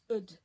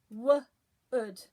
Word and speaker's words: wood: Remember, oh, you lucky duck makes a ud. Wood. So, ud. It's a tricky one. Try and remember. Same as should, same as could.